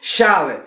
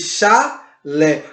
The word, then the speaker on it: chalé: acentua o último a a palavra Chalé é termina com e é uma sílaba você não xale você diz chá Lê por isso é de uma sílaba tônica e ela é acentuada